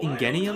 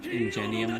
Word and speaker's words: Ingenium: Ingenium? Ingenium? Ingenium. Ingenium? I assume Gen sounds like engine.